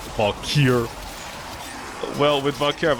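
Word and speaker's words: Valkyr: You should be able to remove Vakir's skirt. Well, my bigger concern is why does Vakir I like how I pronounce it wrong. Valkir.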